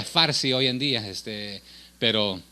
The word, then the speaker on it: farsi: programa en el idioma que se llama farsi pero se pronuncia a veces parsi es de los persas pero se pronuncia farsi hoy en día este